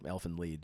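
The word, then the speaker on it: Elfen Lied: off and Alin lead I've been corrected many times that it's elf I'm not sure what it is it's lead that's how they say it in German it's a German uh word Elfin lead so I start so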